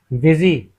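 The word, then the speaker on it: busy: जब यू ए की आवाज देता है तो बिजी यहां हम इसे बिजी पढ़ते हैं। यो यू ए की आवाज दे रहा है। इसे हम बिजी पढ़ेंगे।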